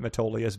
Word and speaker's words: Metolius: People, nothing's really based there, but a lot of businesses just, are established there for the tax breaks that Metolius Valley gives you.